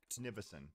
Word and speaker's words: Nivison: Okay, that's how you say his name. I said, what did I say? Nivision or something? I said it wrong. Whatever I said was incorrect. Nivison.